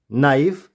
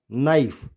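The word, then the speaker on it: knife: नाइफ, इट्स नॉट नाइफ, नाइफ, नॉट and knock.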